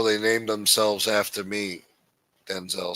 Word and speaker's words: Denzel: Denzel said, "My name is not pronounced Denzel." Denzel instead of Denzel. Washington said his name correctly and clipped the second syllable to sound like Denzel.